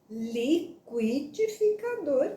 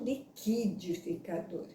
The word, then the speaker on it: liquidificador: que é o correto eu vou pronunciar liqüidificador mesmo e não liquidificador então mais uma exigência